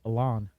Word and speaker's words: Elon: Sometimes I hear people say Elon, and I was like, is that the right way to say it? And then his mom was on, and she said Elon. I was like, yeah, I always knew those losers were saying it wrong.